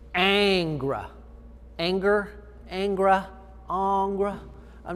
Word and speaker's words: Ingres: of the way there ingress it looks like ingress but it's a french word and it's pronounced angra angra angra i'm not